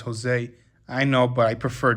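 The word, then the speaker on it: José: Jose is Joe cining actually it's pronounced Jose I know but I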